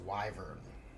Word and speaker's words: wyvern: Theo says it's pronounced wyvern.